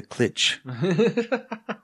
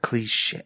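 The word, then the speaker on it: cliché: I didn't know how to say it. So I'd be like, oh man, I really like the song Ride the Clitch. And then, years later, I was like, cliche.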